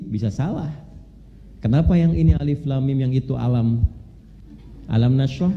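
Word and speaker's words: الم: benar Tahu dari mana bacanya Alif Lam Mim bukan alam karena dengar kan Nah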